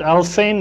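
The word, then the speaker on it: Alfvén: It's called Worlds, Anti-Worlds, and Al Fain is spelled A-L-F-V-E-N, and I have the exact reference in the bibliography of my book.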